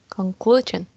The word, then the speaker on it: conclusion: conclusion conclusion in the it has three syllables and the stress in the second one conclusion right exactly exactly yes